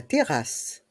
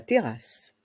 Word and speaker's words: terrasse: PAO le PAO la terrasse la TER ici les deux R et les deux S se prononcent comme s'il y en avait qu'un seul la Terrass la terrasse le salon de jardin